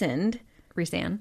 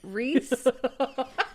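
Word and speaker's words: Rhys: that because um Reese Rean Rean. My god, I know. Can you just call him Reese? Reys. Okay guys, I'm sorry. I've been pronouncing it wrong forever. Reese Reese's Pieces.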